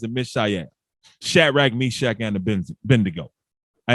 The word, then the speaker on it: Mishael: And let me pronounce their names correctly again. Ananias, Azarias, and Mishael.